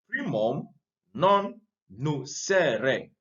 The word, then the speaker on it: primum non nocere: So this principle is based on a Latin maxim, primum non nocere. Primum non nocere. Now in Latin, I remember studying Latin small. In Latin, you pronounce the words as they are.